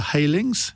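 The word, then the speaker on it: Heylings: program lebm MP Pippa halings is that how I pronounce it it is indeed thank goodness for that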